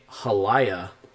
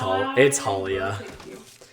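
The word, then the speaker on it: Haliya: Oh, it is hard to turn down a Hallaya. It's Halia. It's Halia. I can butcher the name.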